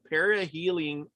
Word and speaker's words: perihelion: sun touches our psyche it's called the perihelion perihelion effect yeah you said it right the first time yeah and i was